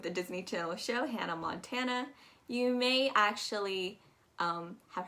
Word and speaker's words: Montana: episodes of accent academy but you're going to pronounce that first a as a as an a y hannah montana tan tan so it's a it's it's a very loaded sound going down we have